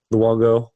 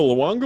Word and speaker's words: Luongo: Luongo.